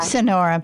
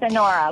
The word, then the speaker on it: Sonora: It's Sonora. Sonora. Sonora. Like, yeah. Like the Sonora Desert.